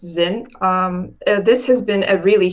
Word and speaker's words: Zynn: It's pronounced Zynn.